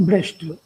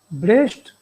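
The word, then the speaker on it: Brecht: और आप अगर इसको पढ़ना चाहें विस्तार से, तो आप इंटरनेट पर टाइप करें ब्रेस्ट अगेंस्ट लुकाच या ब्रेख्ट अगेंस्ट लुकाच, ये उच्चारण में थोड़ा सा फर्क है।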